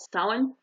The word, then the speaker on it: Samhain: They call it Samhain. It's spelled Samhin.